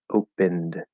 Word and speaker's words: opened: So we know that the E is silent, so we're gonna have N and D. Right now, if we fully clearly enunciate this, opened, opened, okay, and we don't normally clearly enunciate.